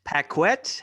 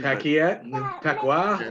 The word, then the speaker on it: Paquette: niko um renee paquette pacquiao i don't know how you would pronounce it because french canadian pacquiao now you're both pretty